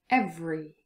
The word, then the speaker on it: every: All of those four words without the schwa pronunciation. Different. Separate, every, chocolate.